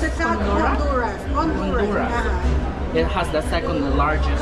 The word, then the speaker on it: Honduras: How do you On the pronounce it? south Honduras? Honduras.